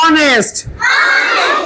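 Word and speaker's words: honest: এন ই এস টি এসটি অনেস্ট একটা মজা দেখাবো অনেস্টের মধ্যে তোমাদের পাখির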